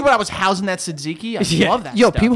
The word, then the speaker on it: Tzatziki: Tzatziki. Yeah. Well, it's not really silent. It's not a T. It's a tz.